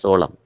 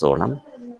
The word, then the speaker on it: solemn: and sacred okay solomon that last n is not sounded it is pronounced as solam this just pronounced as solam the last n is